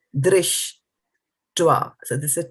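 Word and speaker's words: दृष्ट्वा: dṛṣṭvā. So remember, this is a R with a dot. So it's re, pronounced as a re and not a ra or a r, right? So dṛṣṭvā.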